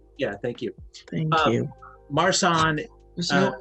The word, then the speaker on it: Marsanne: Marsanne. There's no accent on the last E. There's no accent aigu.